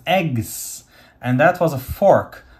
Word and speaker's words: EGCS: egcs dotg g z that's pronounced eggs and that was a